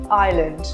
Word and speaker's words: island: The letter S is silent when it comes before the letter L in a word. For example, island or isle.